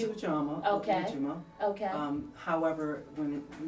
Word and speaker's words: Ujima: First of all, we've got to learn how to say it. There is Ujima.